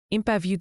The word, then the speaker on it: impavide: Impavide se prononce impavide.